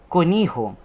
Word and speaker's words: conejo: And the word conejo is pronounced in the sound of cunijo. The presence of voiceless glottal plosive and the U makes the pronunciation of the word change.